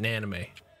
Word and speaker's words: Namine: Namine. That's not right. Yeah, that's good. Namine. That's good enough. That's Namine. No. It's like anime, but with an N before it. Naname.